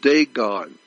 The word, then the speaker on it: Dagon: The Catholic Church, when you see the Pope, he represents the worship of Dagon. It's spelled D-A-G-O-N, Dagon.